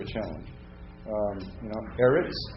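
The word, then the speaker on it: אֶרֶץ: challenge um you know erots how are you going to learn erots well it kind of sounds like the word arable to me arable land you know so that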